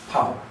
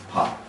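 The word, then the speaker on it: 밥: p cup cup okay an example with the B is po okay which is rice or in certain cases meal okay pop okay uh one common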